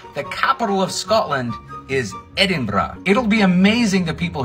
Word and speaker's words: Edinburgh: Edinburgh Edinburgh fellow Americans it is not Edinburgh it is not Edinburgh the capital of Scotland is Edinburgh it'll be amazing the people here that an